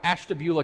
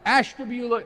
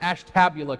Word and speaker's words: Ashtabula: Ohio called Ashtabula County I said it right by the way first five times I did this I did it wrong and you should have heard the backlash it's Ashtabula not Ash tabula County Ashtabula County I learned my